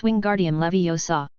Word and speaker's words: Wingardium Leviosa: It's Wingardium Leviosa. The AR must not only be pronounced, but also said long and clearly.